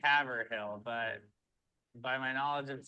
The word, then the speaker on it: Haverhill: Haverhill. I would say Haverhill, but by my knowledge of today, it's probably just pronounced hill.